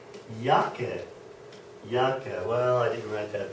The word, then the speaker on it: Jacke: all right so uh anything with a J will sound like a y okay great the next